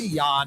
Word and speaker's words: Jan: little research on this it might be yawn Hopper more worthless information the Miami Vice tune it was almost as good as Hawaii Five-0 and the Seven it was John Hunter yikes spell Ian it's spelled Ian j-a-n that's terrible that goes